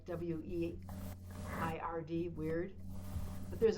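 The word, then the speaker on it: wyrd: WEIRD, weird. But there's a Norse word, and it's spelled WRYD, weird. And the Norse word weird is the essence that we're born with.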